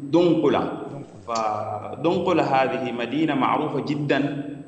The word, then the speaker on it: دنقلة: فبلاد النوبة مدينتها أو مركزها عاصمتها كانت دمقلة، وكلمة دمقلة اليوم نحن نقول لها ننطقها باسم دنقلة.